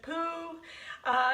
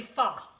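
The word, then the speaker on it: Phở: Now, some of you pronounce it pho, some pronounce it pho, some pronounce it poo. It's actually pho, F-U-H, pho. That's how it's pronounced.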